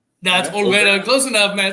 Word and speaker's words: Olvera: Did I pronounce that right? That's Olvera.